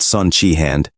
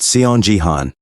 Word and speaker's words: Seon Jihan: and corrected him saying it's not son chiand but seon Jihan he explained that chihan